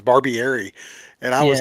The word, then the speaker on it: Barbieri: So, but yeah, some of these and Frank, you said Barberi. And the crazy thing about it is I did not know how to say his last name. And I went and Googled, like YouTubed a review of him, and the person pronounced his name was Barbieri.